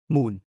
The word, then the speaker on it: มูล: มูล มูล 문처럼 발음, 은 근원, 출처 또는 기초를 의미합니다.